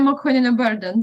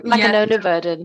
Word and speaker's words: Makhonina-Byrdan: Would you like to share how you pronounce your name correctly, Nataliya? So, Nataliya Makhonina-Byrdan. So, Makhonina-Byrdan.